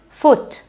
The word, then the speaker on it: foot: shot ooh for example foot F or t now although you have a double O in foot but don't say it as food because the sounds do